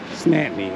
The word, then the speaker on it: St. Anthony: How do you say it? Snatney, okay.